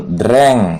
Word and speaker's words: drank: ya minum over 2-nya drink itu dreng bacanya dreng bukan terang ya dreng terus verb